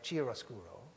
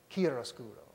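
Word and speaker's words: chiaroscuro: word I've been using Kia roscuro Judy pronounces that anglicize chiroscuro kieroscuro It's a Wonderful term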